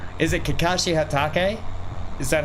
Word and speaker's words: Hatake: thing and I'm loving it Hatake yeah Hatake Hatake is that how you pronounce it yes okay yes BR okay yes